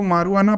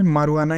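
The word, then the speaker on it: marijuana: इसको मारुआना प्रोनाउंस करते हैं, जो भी तुम सुने वो गलत है, मारुआना ही सही है, ठीक है।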